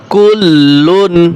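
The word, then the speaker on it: كُلٌّ: আমানার রাসূলু বিমা উনজিলা ইলাইহি মির রাব্বিহি ওয়াল মুমিনুন কুল্লুন আমানা। কুল্লুন, লাম দুই পেশ লুন, গুণ হবে না এখানে।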